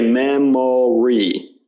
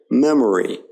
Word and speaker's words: memory: in many English words now it's typical in unstressed syllables in words like memory okay we don't say memory we say memory you hear that it's a very subtle sound and the O there isn't stressed it's more of